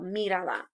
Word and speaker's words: mírala: So if I have mira is my verb, A's last syllable, the I is the second to last syllable, mírala.